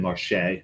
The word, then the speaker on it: Marché: Soucienne Marché. Market is Marché.